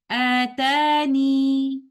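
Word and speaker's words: آتانِ: The first of them is pronouncing the letter ya as a mud letter and reciting it like this. Atani.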